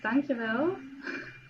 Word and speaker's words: dankjewel: Thank you is dankjewel.